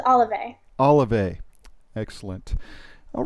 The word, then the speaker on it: Olivae: I could talk um the correct pronunciation is olive olive excellent all right